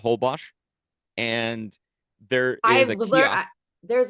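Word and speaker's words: Holbox: it's spelled h o l b Ox it's pronounced hbos and there is a there's a whole box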